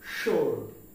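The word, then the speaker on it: sword: ইউ ও আর ডি আমরা এটাকে বলে থাকি সোয়ার্ড কি বলি সোয়ার্ড কিন্তু এর উচ্চারণ হবে সোর্ড কি হবে সোর্ড সোর্ড শব্দের অর্থ তরবারি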